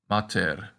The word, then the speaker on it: mater: And the long A in Latin is pronounced like the A in father, but our practice word is the word for mother, or mater. The short A is like the end of idea.